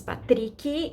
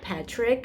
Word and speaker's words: Patrick: conversation his name is patrii in Portuguese the way we pronounce it but we could say Patrick as well not as